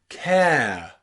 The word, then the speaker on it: care: But if we put magic E on the end, we don't have car. We have care. Care. So magic E is silent, but it changes the A from R to air. It goes from car with no magic E to care with a magic E.